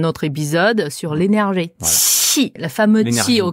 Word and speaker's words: 七: On avait dit le QI, le Q, c'est un peu comme TCH pour les Français. Ouais. C'est ça. Tout à fait. Mais ça fait TCHI, du coup, ça fait chi. Mm. Il y a beaucoup d'air qui sort.